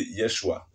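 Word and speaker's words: ישוע: Mais son nom hébreu, c'est Yeshua, qui signifie sauveur.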